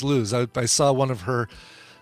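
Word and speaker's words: Lous: you lose in the I found out it's pronounced lose I saw one of her um YouTube videos and she introduces herself as lose I thought well it's French you got they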